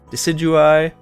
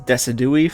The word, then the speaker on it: Decidueye: And then we get Hisuian Decidueye, which I totally pronounced as Decidui for a while.